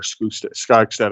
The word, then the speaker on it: Skogstad: That was from Mark Skogstad, or Skogstad, I think is the correct pronunciation.